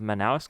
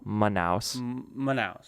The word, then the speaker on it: Manaus: bro manaus manaus manaus the emphasis on the first syllable manaus that's literally how i